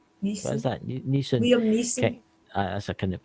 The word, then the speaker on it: Neeson: If Liam Nelson, what is that? Neeson. Liam Neeson. That's I couldn't pronounce that there.